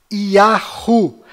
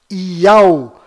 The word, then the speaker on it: יהו: Quando existe um judeu e um gentio conversando, as pronúncias são Benjamin Netanyahu, Yahu, Hizkiyahu, Yeshayahu e Irmiyahu. Mas quando existem dois judeus conversando, as pronúncias são Benjamin Netanyahu, Iau, Hizkiyahu, Yeshayahu e Irmiyahu.